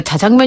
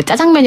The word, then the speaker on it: 자장면: 만들어진 게 아니면 왜 짜장면 같은 경우도 원래 자장면 이라고 읽어야 되는데 짜장면 이라고 하니까 그거 사진 들어가자 그래야 그것처럼